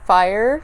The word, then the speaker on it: Fyre: Here is the shade Fyre. There it is on my finger. It's spelled like F-Y-R-E, like the Fyre Festival, which is funny.